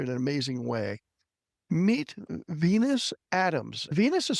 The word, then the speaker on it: Venius: Meet Venus Adams. Venus is spelled with an I in there, so it is pronounced Venus.